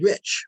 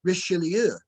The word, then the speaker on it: Richelieu: Cardinal Rich, replied Josiah. You mean Cardinal Richelieu, chimed in Matthew, careful to pronounce and emphasize the last part of the cardinal's name.